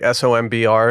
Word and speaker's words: SOMBR: Is it spelled like SOMBR or something? It's SOMBR. You got it.